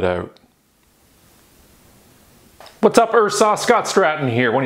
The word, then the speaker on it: IHRSA: It is pronounced IHRSA, no need to spell it out. What's up, IHRSA?